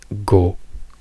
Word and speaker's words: go: and open while therefore you say no as in Italian but then you say go when you pronounce the word go in English therefore you change the quality and openness of the vowel then technically so what